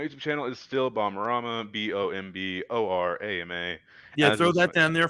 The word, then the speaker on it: Bomborama: Everyone pronounces it wrong. I ended up changing it to Bomb just for Spoon and Twitch. Wait, so it's not Bomborama? It's on Bomborama on YouTube, but I just shorten it everywhere else. Because people can't pronounce Bomarama. Nope, people cannot pronounce it.